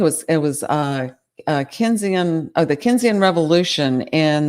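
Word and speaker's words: Keynesian: Um it it's in the outline but I'll tell you about it real quick um I have to say it right. It's Kinesise um in the 1930s and4s um argued for deficit spending in depressions and but also for surpluses during booms.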